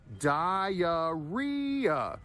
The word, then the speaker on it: diarrhea: There's four syllables and there are two hidden Y's in this word. Diaria. So you go up on the third syllable re. Okay. And there's a hidden Y vowel sounds.